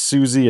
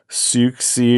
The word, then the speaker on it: Siouxsie: Sold quite a few of these in the past and I just learned today that it's Siouxsie and not Sooksie or Suwie or however the heck I was pronouncing it.